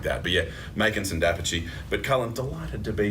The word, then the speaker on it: d'Apice: I'm sorry, Dapici. I'm so sorry, Makinson Dapici.